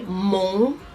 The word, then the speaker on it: mon: So to say I am, you will say mon, mon, mon. Let me hear you say it one time. Okay. Yeah, so mon, which means I am. Mon. Basically, I will put across how it's written and how it's said phonetically, so you know exactly how you should pronounce it.